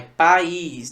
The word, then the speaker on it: país: País, eu separo assim. Veja que entre o A e o I rola um hiato, beleza? E nesse hiato, um dos elementos do hiato é a sílaba tônica. O I é tônico, tá?